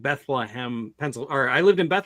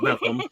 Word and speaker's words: Bethlehem: When I used to live in Maryland, it was I lived in Bethlehem, Pennsylvania, which is actually you pronounce it Bethlehem, like you have something stuck in your throat or something. It's Bethlehem.